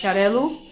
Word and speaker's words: Xarel·lo: So you see an X, but the pronunciation is more like S-H, Xarel·lo.